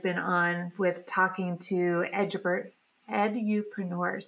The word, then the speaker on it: edupreneurs: the journey you've been on with talking to edupreneurs. How do you say that? Edupreneurs.